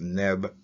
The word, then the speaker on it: nb: And it is translated as NB, pronounced Neb, representing again the idea of Lord.